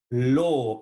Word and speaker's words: l'eau: L'eau.